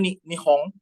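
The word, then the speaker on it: 日本: Ini bacanya nihong. Jadi di Jepang sendiri itu mereka nggak pernah manggil mereka itu we are apa? Watashi wa Japanese Jin gitu, nggak pernah. Jadi mereka ngomongnya Nihon Jin.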